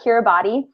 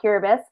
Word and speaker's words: Kiribati: and if you read our proposal, you'll see it's spelled, it looks like Kiribati, but we very quickly learned that it's pronounced Kiribati.